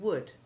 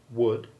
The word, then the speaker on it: would: looked at double o the double o2 sound of words like good and wood can also be made by a very few oh you words like could should and would this is our o